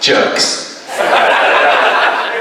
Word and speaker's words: JRX: JRX, pronounced jerks.